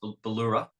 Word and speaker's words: Bauloora: Yeah, pronounced Bauloora, which is catches a lot of people. It is we sort of had Bauloora.